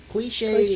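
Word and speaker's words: cliché: It's usually an author with a non unique or something that's not cliche. Are you familiar with the word cliche? Cliche. I don't know. Cliche Cliche.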